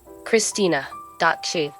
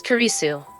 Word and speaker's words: Kurisu: don't call me christina. you know how much I hate that name it's kisu not Christina that's a decent question